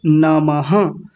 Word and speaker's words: नमः: नामहः तो यह पीछे जो दो बिंदियां आपको दिख रही हैं, इनको बोलते हैं विसर्ग। क्या बोलते हैं? विसर्ग। विसर्ग का मतलब होता है ये आधे ह जैसी आवाज देते हैं। पूरे ह की आवाज नहीं आधे ह की आवाज। तो क्या बोला जाएगा? नमः ऐसा बोलेंगे नमः।